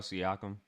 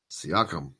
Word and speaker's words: Siakam: name see you camp there Sikkim the Pascal siakam siakam Pascal he also led with eight rebounds that